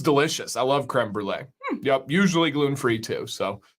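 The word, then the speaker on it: crème brûlée: I don't know if I've ever had creme brulee. And I even nailed the pronunciation.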